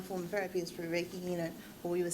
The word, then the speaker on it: Reiki: Whereas another form of therapy is through Reiki, or we would say Reiki. Still can't pronounce it right.